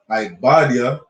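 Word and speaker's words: עובדיה: And Obadiah, Ibadiah in the Hebrew, speaks about Esau's destruction.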